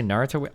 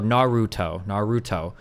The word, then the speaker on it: Naruto: In the English language, I think in a lot of Romantic and Germanic languages, we tend to say things with an accent from the second to last syllable. So Naruto, or Naruto, right? We tend to do that. Or we might even say like Naruto, maybe if you want, like to put the accents around.